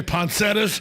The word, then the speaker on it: poinsettia: you say it some people say poncetus other people say poinsettias so yeah and then otherwise it's poinsettia yeah poinsettia pine center poinsettia and then come up